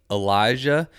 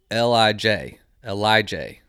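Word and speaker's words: Ellijay: At first, I thought it was Elijah, but I was informed it's Lij, something like that.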